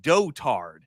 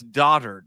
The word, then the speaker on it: dotard: dotard I was like that word is not pronounced dotard and yet it was said like that over and over and over again I was like that's daughtered someone play and then in